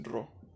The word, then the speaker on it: Rho: Este símbolo parece una P, pero es Rho.